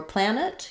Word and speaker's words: planet: So for planet, you want the ah vowel, the n, and then a schwa or an I sound, planet.